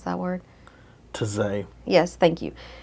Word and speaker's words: Taizé: March 19th, do you know how to pronounce that word? Taizé.